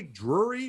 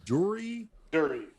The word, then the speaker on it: Durie: Do you say Drury or Durie? Durie. Okay, so it's not like the Blockheads guy. No, like it sounds, like it's spelled.